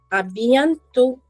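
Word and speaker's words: à bientôt: A bientôt. A bientôt is called see you soon. A bientôt. A bientôt. Correct. Again, over here if you see I am not pronouncing the last letter.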